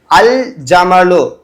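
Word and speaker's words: الجمل: இரண்டு எழுத்துக்களுமே உச்சரிக்கப்பட்டு வரும் அதே மாதிரி அல்ஜமலு அஜ்ஜமலுன்னு சொல்ல முடியாது அல்ஜமலுன்னு சொல்லணும் அடுத்தது அல்ஹப்பு தான் தவிர அல்ஹப்புன்னு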